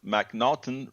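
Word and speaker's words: M'Naghten: should be familiar with the MC the mnon pronounce mnon rule which states that an individual suffers from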